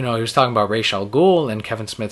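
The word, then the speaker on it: Ra's al Ghul: right so we had Neil Adams on Fatman on Batman Kevin Smith podcast pronounced it Rosal ghoul he was a co-creator to raal ghoul and we said wow what even the co-creator pronounced it wrong like Batman dity series said it Rael ghoul obviously that's the right way Denny O'Neal Who mainly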